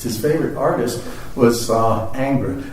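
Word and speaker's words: Ingres: favorite artist was uh anger i can't speak french so i'm mangling it somewhat but it's spelled i-n-g-r-e-s and i think every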